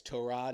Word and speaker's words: Tyrod: I don't think this is going to be like a Tyrod Taylor where he said, "Hey, it's Tur Rod."